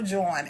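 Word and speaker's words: jawn: If you see if it's a a pair of shoes, check out that joint.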